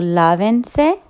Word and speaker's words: lávense: So lávense. And you put the accent on the third to last syllable.